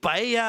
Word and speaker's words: paella: C'est une paella avec du pollo. Mais il y a que moi qui prononce comme ça parce que polla, ça veut dire bite.